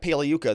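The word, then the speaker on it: Pagliuca: brief cross-examination from Jeff puka the g is silent like lasagna he's out now all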